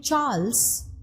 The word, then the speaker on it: Charles: Now, interestingly, when it came to names of people, the name Charles, you are pronouncing it as Ch, so it is an older borrowing.